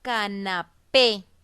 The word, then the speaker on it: canapé: Voy con mi último ejemplo, que es la palabra canapé. La separo en sílabas y escribo P. La sílaba tónica o la que lleva la mayor fuerza de voz es la P.